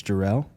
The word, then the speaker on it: Jareel: It's not It's Jerel. Yeah. So, it's Jerel. Um, I thought it was Ju. It's how it's spelled.